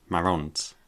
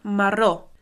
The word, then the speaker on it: marró: tinc els ulls marrons. marrons. Molt bé. So, the word for brown is marron? Not quite. It's actually marró. Marron is the Spanish version. So, marró is the Catalan.